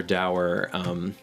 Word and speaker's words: dour: So it almost literally just kind of floats out of nowhere, and there's a rather dour. I realize the word is technically pronounced door, but it's important to be able to parse these things out.